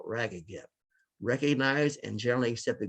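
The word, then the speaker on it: RAGAGEP: as ragged gap and it's pronounced just like it's spelled rag again recognize and generally accept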